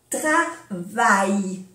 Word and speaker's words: travail: Travail, aquí las dos L's son Y, como una Y, travail.